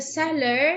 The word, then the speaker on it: cellar: Dad Dad stored the candles in the color in the cellar. of What do we have after letter C, Hussein? Letter E. So it's a soft C.